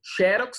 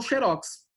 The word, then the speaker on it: xerox: Olha só, existem palavras que admitem dupla pronúncia, né? Por exemplo, xerox ou xerox, né?